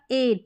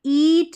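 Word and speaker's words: eight: तो ई आई हम लिखेंगे एट में, यहाँ पर जी एच टी से पहले हमने लिखा एट, यहाँ पर ईट नहीं बोल रहे, एट, तो इसमें उच्चारण अलग है, ये अलग है नियम, ठीक है।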